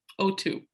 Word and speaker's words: Otou: week okay o2 i've never said your last name so i don't even know if i'm pronouncing that right you have a cute little accent it's oh literally like the molecule o2 o2 like the molecule